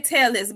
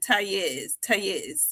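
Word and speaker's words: Tellez: we say Tellis, but they pronounce it Tayez, I think.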